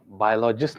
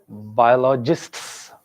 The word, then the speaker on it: biologists: देखा ये मैंने बोला biologist नहीं था. Biologists. S in the end.